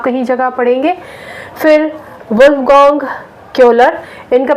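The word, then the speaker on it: Köhler: वेहाइमर भी आप कहीं जगह पढ़ेंगे, फिर वुल्फगांग क्योलर, इनका प्रोनाउंसिएशन आप कोहला भी पढ़ेंगे, और उसके बाद हमारे पास आ जाते हैं कुर्ट कोफका।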